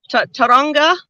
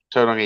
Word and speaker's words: Tauranga: Like I've seen photos sent to me from New Zealand, from Taronga. Is that how I pronounce it? Tauranga, Did yeah.